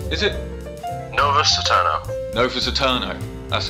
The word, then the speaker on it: Novus AEternes: with Nick from taytale Studios to talk about novious Ed Turners is it ano Novus eterno that's how it's pronounced I have um tell us a bit